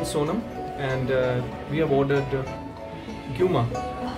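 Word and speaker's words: Gyuma: Kailash Hotel, and with me is my new friend Sonam, and we have ordered guma.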